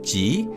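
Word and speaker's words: ぢ: The second character is pronounced as G, and the third character is pronounced as Zu. So in essence, they are pronounced exactly the same as G and Zu from Z row.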